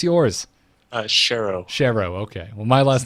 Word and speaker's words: Schero: ask you how was the proper way to pronounce yours Cheryl Cheryl okay well my last name is